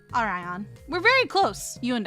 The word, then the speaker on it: Orion: McGillicuy, I would be saying Oreon like or Oreo. Maybe I just want Oreos. You guys have any Oreos? I like Oreos. It's Orion according to the Webster's dictionary.